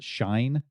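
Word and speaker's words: Schein: With that in mind, there's a concept from a psychologist, Edgar, I believe it's pronounced shine, shi n from Edgar Shine, on organizational culture.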